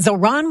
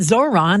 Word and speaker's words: Zohran: And Zohran Mamdani, the mayor-elect of New York, also one of the year's most Googled names, says it's Zohran, not Zoran, and often gets Mandami or even Zamdani.